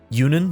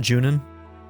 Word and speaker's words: Yunan: Yunan, that's how they pronounce it, not Junin.